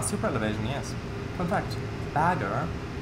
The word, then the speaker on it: Bagger: Fun fact, bagger, pronounced the same as the English bugger, actually means excavator in German. Bagger. Yeah. Although the R is more pronounced, I think, or pronounced differently.